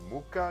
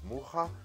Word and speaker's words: Mucha: I have said Mucha instead of Mucha, Van Gogh instead of Van Gogh, and Schiele instead of Schiele.